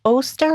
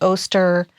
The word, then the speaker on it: Oster: a bunch of Robert is it Oster or is oer rhymes with toaster awesome MH uh Australian